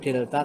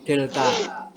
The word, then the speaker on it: del: Yang kedua itu notasinya ya, notasinya itu, nah ini nih, dibacanya itu del ya, bukan delta tapi del.